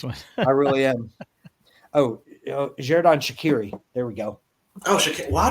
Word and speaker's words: Xherdan Shaqiri: I was going to say Jordan Charcuterie, but that's because I can't pronounce it. Hey. Just quit when you're ahead. Yeah, Xherdan Shaqiri.